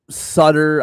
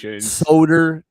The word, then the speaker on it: Soder: feels pretty straightforward, but like my last name Solder, I've had Sutter, I've had, I've had Suter, like try to pronounce the A and the U. I've had it all. Soder.